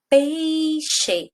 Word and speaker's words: peixe: Peixe. Qual que é a sílaba mais forte? Peixe. Não é o pei?